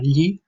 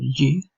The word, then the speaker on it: gli: Iniziamo con, per esempio, come pronunciare la sillaba gli. La sillaba gli trova lo stesso suono che è presente nella parola inglese million, in mezzo alla parola million.